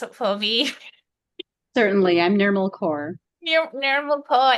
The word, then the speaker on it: Nirmal Kaur: Can you please pronounce it for me? Certainly, I'm Nirmal Kaur.